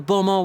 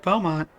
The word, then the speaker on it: Beaumont: to help us take these materials to the bomo workshop and deliver them to the owner there